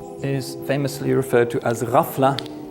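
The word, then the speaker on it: غفلة: famously referred to as rafla the GH sound is pronounced roughly like the French R it's a kind of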